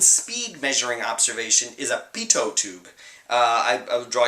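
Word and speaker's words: Pitot: measuring observation is a Pito tube uh I I draw your attention to the word is pronounced Pito uh Pito was a French engineer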